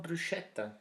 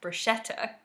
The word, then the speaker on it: bruschetta: called a lasting mark ii album yes above bruschetta oh yeah so in english we often pronounce it as bruschetta but in Italian CH is pronounced as a